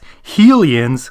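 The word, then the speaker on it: Hylian: From this moment forward, I will properly and accurately refer to the people of Hyrule as Helians under the goddess Helia.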